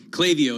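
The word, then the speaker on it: Klaviyo: ipo's Matt we had clavio clavio is the correct way to pronounce that company which is a back-end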